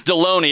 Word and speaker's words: Delony: we doing good dr delaney how are you good it's deloney it rhymes with baloney it was a really